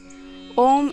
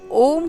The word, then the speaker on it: ॐ: ओम के 3 भाग हैं, अ, उ, म।